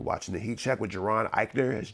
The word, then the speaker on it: Jaron Ikner: You're watching the heat check with Geron Iikner. That's J A R O N Iikner. Don't be saying my name wrong.